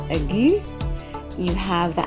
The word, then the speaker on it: aigu: Okay, and when you have that particular accent, which is pronounced aigu, you have the accent looking kind of like a slash that we would use on the keyboard over the letter.